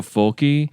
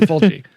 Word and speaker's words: Fulci: educating myself recently on Fulci. Fulci. Yeah, Fulci. I think it just depends on if you are or aren't from Italy, how you say it.